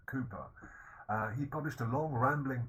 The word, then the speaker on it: Cowper: Another important poet is William Cowper, special pronunciation for the name, Cowper.